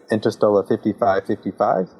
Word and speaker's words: Interstella 5555: he was like well how do you actually say it like Interstellar 55 55 and Thomas basically says uh you can say it however you want uh no